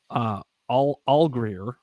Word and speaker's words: Allgeier: Just Bob is giving us some pointers on how to pronounce Tyler Allgeier. I guess that's how he's saying it. He says it's like Rosie Greer, but with an A in front of it.